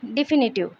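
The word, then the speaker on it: definitive: डिफिनिटिव इसमें word stress फी पे आएगा और ये इसका प्रोनाउंसिएशन हो जाएगा डिफिनिटिव। डिफिनिटिव इसका मतलब हो जाएगा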